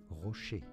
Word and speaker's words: Rocher: Rocher is how it's said in French, okay?